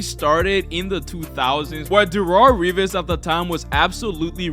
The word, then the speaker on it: Darelle Revis: And then we have Darelle Revis. Finally said it right, okay? No Revis, but Darelle Revis, the absolute best cornerback I've ever seen play football, guys.